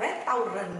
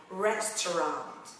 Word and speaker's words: restaurant: Mình để ý ở mặt phiên âm này ha, nó không là restaurant đâu mọi người nha, nó sẽ đọc là restaurant.